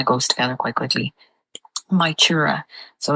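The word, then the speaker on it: Mag Tuired: My chura.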